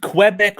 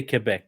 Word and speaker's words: Quebec: I'm betting you it's Quebec. I mean, I would say Quebec, yeah, because Quebec doesn't sound French at all.